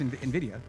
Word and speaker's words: NVIDIA: And it's true, you pronounce it however you want. It's NVIDIA, but yeah.